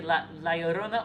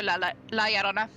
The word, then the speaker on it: La Llorona: If you're in, I know some areas tend to pronounce like the 2 L's more like a Y. yeah, like a y Yeah. sound. So it could be La Llorona or La Llorona.